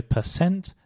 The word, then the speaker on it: percent: The first thing to mention is that for both percent and percentage, the stress is on the cent, so percent and percentage.